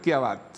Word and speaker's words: Chiavazza: O sí, o pronunciado como en italiano, que mi señora está haciendo un curso y me corrige. ¿Cómo es en italiano? Kiabat. Kiabat, sí, con la doble Z.